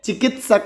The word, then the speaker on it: चिकित्सक: चिकित्सक कैसे उच्चारण करेंगे?